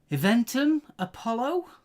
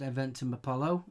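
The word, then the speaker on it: Eventim Apollo: 17th of October London eventum Apollo I think it's pronounced event in Apollo and on the 18th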